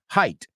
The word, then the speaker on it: height: And Anix, I've got to say, you pronounce the word height perfectly. No sabes las veces que he oído height. Say it with me. Height.